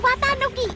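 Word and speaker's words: 四月一日: ตัว มา ย ิ เขียน ว่า 1 เสา แต่ อ่าน ว่า วาต้า นุกิ โธ่ ได้ เอง เหรอ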